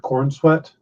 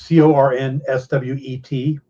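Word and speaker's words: Corenswet: got the look, and his name is David Cornsweet. That's an unfortunate last name. It is Cornswet.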